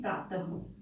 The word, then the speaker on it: प्रातः: हमने ह का उच्चारण, प्रातः में ह का उच्चारण क्यों कर रहे हैं, क्योंकि यहाँ विसर्ग लगा हुआ है और विसर्ग का उच्चारण ह में होता है।